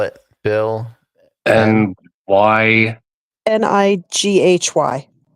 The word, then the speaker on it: Nighy: He's in spell it. Bill N-Y Nighy. Nighy.